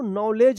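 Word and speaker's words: knowledge: इसमें देखिए डी और जी है तो इसका उच्चारण ज होगा तो क्या पढ़ेंगे इसको नॉलेज पढ़ेंगे क्या पढ़ेंगे नॉलेज नॉलेज के एन ओ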